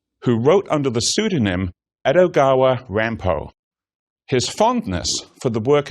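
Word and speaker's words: Edogawa Rampo: by the fact that if he pronounced his pen name quickly it is meant to sound like a Japanese version of Poe's full name grandpa began his writing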